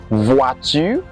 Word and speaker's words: voiture: OI in French is pronounced as OA. OA. Okay, like voiture, voiture, which means car.